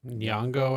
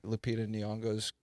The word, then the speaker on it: Nyong'o: Nyong'o, I think.